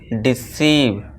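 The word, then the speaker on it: deceive: Next rule देखिए दोस्तों, जब किसी वर्ड में EIVE आ जाए तो उसका साउंड क्या होगा, ईव होगा। तो आपसे कैसे बोलेंगे, ईव। ठीक है दोस्तों। जैसे देखिए, सभी में EIVE आया हुआ है तो अब इसे क्या पढ़ेंगे हम, डिसीव।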